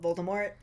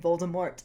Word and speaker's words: Voldemort: and everything, and they said Voldemort in the movies with the hard T, he actually switches to saying Voldemort. Oh, really? Yeah, he does. Okay. And I didn't realize that. I feel so uncomfortable pronouncing that hard T. I can't do it. Well, the first time I read the book, I read it as Voldemort because of the French pronunciation.